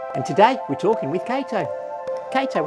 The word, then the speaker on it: Cato: And your name is Cato. Right, your name is Cato, that's right. And Cato rhymes with potato.